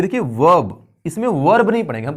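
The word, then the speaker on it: verb: उसी तरह से ये वर्ब, वर्ब, ये वर्ब नहीं है, ये बल्कि वर्ब है, इसमें जो आर है वो साइलेंट है।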